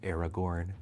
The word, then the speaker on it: Aragorn: and gain vigilance until end of turn it's pronounced Aragorn oh I'm so sorry then I want to